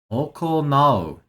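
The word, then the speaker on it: 行う: I don't know if I've seen it pronounced that way before. Okonattemasu. Nattemasu. Okonattemasu. So, here, I'll write it. Here. Okay. Okonau.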